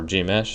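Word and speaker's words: Gmsh: the mesh written in GMS h g m-- or g mesh as i pronounced it the readme which contains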